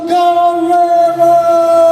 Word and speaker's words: Guerrero: Guerrero. Did I pronounce it right? Yes, that's right. Okay. Well, it sounds more like Guerrero.